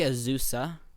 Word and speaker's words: Azusa: Azusa. APU. Yeah. Azusa Pacific, right? Azusa. Two soft. Two Z's. They're both voiced.